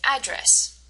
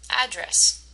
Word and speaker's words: address: syllables has the emphasis address if you said the first part you're right address so notice how address address gets the the emphasis the first part and address is the